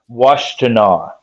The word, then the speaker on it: Washtenaw: Washtenaw. Washtenaw. When he pulled you aside. Washtenaw. It's an Indian name. Can you spell that for me?